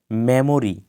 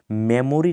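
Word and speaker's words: memory: মেমোরি, এই শব্দটা আমরা সচরাচর ব্যবহার করে থাকি, কিন্তু এটা সঠিক উচ্চারণ মেমোরি নয়, মেমরি।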